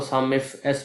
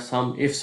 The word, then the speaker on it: SUMIFS: आप इसको सम इफ़ एस pronounce कर लें या सम इफ्स प्रोनाउंस कर लें, उससे कोई फ़र्क नहीं पड़ता है।